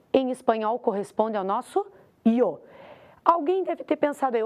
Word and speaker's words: yo: frase o eu em espanhol corresponde ao nosso Yo alguém deve ter pensado aí Opa mas espera